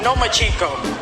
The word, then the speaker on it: Lomachenko: I think you said his name wrong. It's Lomachenko, because he doesn't want to fight me.